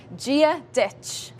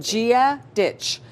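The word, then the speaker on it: Dia dhuit: important phrases you need to know is hello Gia ditch G ditch perfect Gia ditch so Gia there this letter here yep g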